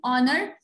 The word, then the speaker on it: honor: The H here is silent.